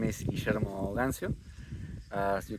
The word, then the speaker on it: Guillermo Gancio: My name is Guillermo Gancio.